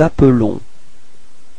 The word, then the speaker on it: appelons: Nous nous appelons. Repeat. Nous nous appelons. Okay, so you can notice that the pronunciation is a bit different for the verb. It's appelons, okay, because there is only one L there.